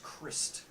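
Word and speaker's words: Krist: So his name is Christ. K-R-I-S-T. I was going to say Oh, it spelled with a Christ.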